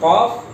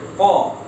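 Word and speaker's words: ق: Namanya huruf qaf, cara bacanya ko.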